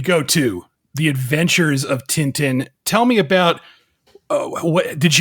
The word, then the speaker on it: Tintin: I mean, like, okay, I'm going to say it once like that because that's the proper French way of saying it. It's a Belgian-French cartoon.